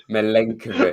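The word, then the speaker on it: Milenković: Milenkovic.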